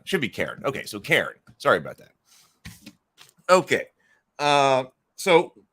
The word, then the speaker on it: Cairn: Oh, so I'm saying it wrong. Cairn? It is, what was I saying? I was saying Cairn. Yeah, so Cairn. It should be Cairn, right?